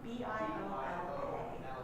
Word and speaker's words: Biola: And it's spelled B I O L A.